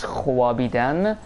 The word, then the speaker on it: Khwabidan: If you if you ever wonder why we write Khobidan as Khwabidan, that's because it's how it was pronounced in Middle Persian, right?